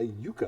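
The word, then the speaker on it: yuca: There's also a yucca plant, Y-U-C-A. That's pronounced yucca.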